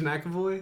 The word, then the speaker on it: McAvoy: played by uh james mcavoy also split is that how you say his name no jake james mcavoy yes but there's not a mac it's just an emcee yeah but he's